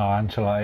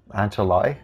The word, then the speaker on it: Ancelotti: Oh, Ancelotti, yep. Ancelotti, is that how you say it?